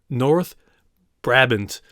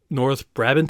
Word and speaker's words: North Brabant: Brookhaven Mississippi Brussels capital north brabbins and I know I butchered that horribly but North brabant I think it is thank you so